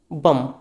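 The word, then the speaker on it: bomb: Limb next है हमारा बम इसे हम बोलते हैं बी ओ एम बी लिखते कैसे हैं हम बी ओ एम बी और स्पीच कैसे करते हैं? बी ओ एम बम। बम का मतलब होता है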